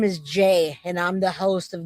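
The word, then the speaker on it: Jai: Yeah, Jay. My name is J. J A I pronounced J A Y.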